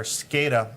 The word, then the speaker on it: SCADA: I but- pronounced it correctly, didn't I? Yes, it's SCADA, Okay, yep.